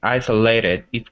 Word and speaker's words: isolated: And the word isolated, it's isolated or isolated? Isolated. Isolated. Yeah, yeah, so that should be a Z sound, but it's not.